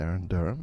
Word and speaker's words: Erin Derham: I'm reporting for Filmwax Radio from South by Southwest, and I'm with Erin Derham. Is that the correct pronunciation?